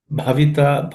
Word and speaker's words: bhavita: Bhavita. Bha is aspirated.